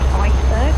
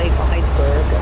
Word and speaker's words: Eissberg: Yeah, well, we've discovered a make called Iceberg, but it's spelled EISSBERG. And so Iceberg, I guess it's German or Belgian or something like that.